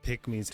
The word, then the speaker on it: pygmies: They have specific rituals to ask permission before hunting Pygmies. It's So, it's it's spelled p y g m i e s. So, it's pygmies.